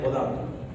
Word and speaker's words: Budin: Solo no, el padre de la neonatología, Pierre Baudin, Budin se escribe.